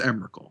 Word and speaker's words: Emrakul: Like, but I know everyone says Emrakul. That's just how it's pronounced.